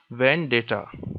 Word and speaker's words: vendetta: word is today's word is vendata the correct pronunciation for this word is when data okay let us see which part of his